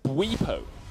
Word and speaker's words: Bwipo: It's Bwipo. Bwipo. Yes. With a little W-E in that middle. Oh, so Bwipo. like we. Yeah, Bwipo. Like we, like us.